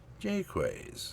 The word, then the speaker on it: Jaquays: So, Janelle Jquways Day, Jqus, that's how she pronounced it.